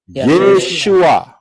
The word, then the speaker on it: Yeshua: wau Ayin aksara-aksara ini pengucapan di dalam bahasa Indonesia adalah tertulis yesua betul yesua ya benar karena orang Israel ngomongnya yesua lah kita kita gak huruf